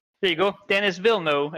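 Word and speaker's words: Denis Villeneuve: Dennis Wilno is how you say it according to internet.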